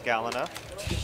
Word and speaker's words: Galena: your ability it's pretty good okay I like Galena but some people pronounce her name differently as galinha I like her a lot people fight about